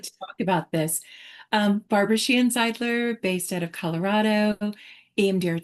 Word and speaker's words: Sheehan-Zeidler: And I always say her name wrong. Is it Zeidler? With an I, Zeidler. Zeidler. Okay. Barbara Sheehan-Zeidler.